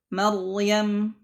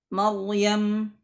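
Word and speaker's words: مريم: Yang ketiga adalah ra yang sukun yang sebelum huruf ra tersebut berharakat fathah. Ada huruf hidup yang berharakat fathah. Maryam, Maryam, ya. Khordalin, qaryah, qaryah. Nah, jadi ra-nya sukun. Sebelumnya ada huruf yang berharakat fathah, maka ra-nya dibaca tebal.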